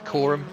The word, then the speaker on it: Coram: It's not Karam. Everyone is just kind of taking it steady. It's not Karam. No, Phil. I have to correct the pronunciation a little bit, but there are Coram into Murray's great combination.